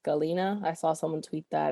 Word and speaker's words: Halyna: how to pronounce because i know it's spelled like h a why something like that but it's supposed to be pronounced galena i saw someone tweet